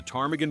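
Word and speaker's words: ptarmigan: a town after the tarmaggan bird, they gave up and called it chicken Alaska. They literally saw the silent P and just said, "Nope."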